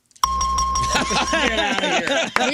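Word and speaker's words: Gea: He's been eating G. Right. You pronounce it G. G E A. Gia.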